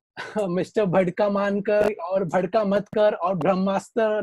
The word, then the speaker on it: Bhadkamkar: It actually at times comes in as Bhadkar or Bhamdamkar. So there have been very funny pronunciations, but yeah, the name it gets confused with Bhandarkar, Bhadkamkar. It says Bhadkamkar actually.